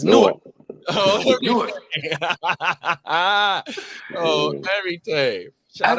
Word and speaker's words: Newark: That's like how the Jersey niggas say Newark. It's Newark.